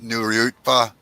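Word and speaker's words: Nuriootpa: a couple different slangs it's pronounced the way it's spelt new ryuta yeah most of our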